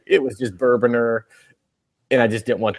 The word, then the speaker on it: Bourbonr: not bourbon are Oh bigger boner the e is silent to say it what it's bourbon ER but bourbon with an e in there was